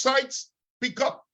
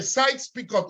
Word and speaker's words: Sykes-Picot: Porque de decirlo en español es diferente, pero se pronuncia los acuerdos Sykes-Picot.